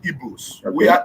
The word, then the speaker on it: Igbo: We are not Igbos. Okay. We are Igbo. Nothing like Igbo. Yeah. You people should begin to pronounce our name correctly. Not not IBO. IGBO. Igbo.